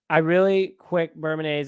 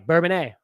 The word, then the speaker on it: Bourbonnais: Bourbonnais is like Illinois don't pronounce it. Oh, Bourbonnais. Sorry, Bourbonnais.